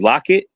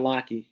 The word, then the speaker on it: Lochte: Lockett, say his name right? Remember the swimmer that said that he got robbed or something like that? Ryan. Yeah, Ryan Lochte.